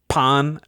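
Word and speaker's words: Pan: I got it first he keeps typing out Pon parenthesis say it like this and then in parenthesis just so that way p a w n so that way you know that he knows that he's saying it right right anyway we've got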